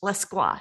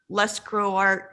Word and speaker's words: Lescroart: in english literature oh and his name is pronounced la squash so in case you were wondering it's not less grow art or any other iteration opposite of more claw